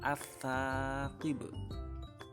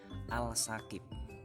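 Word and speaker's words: الثاقب: Contohnya ini, bacanya as-saqib. As-saqib, bukan al-saqib tapi as-saqib, alnya hilang.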